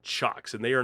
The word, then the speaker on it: Cioks: Cioks makes isolated power supplies, and it's CIOKS. It's spelled a little different than it sounds.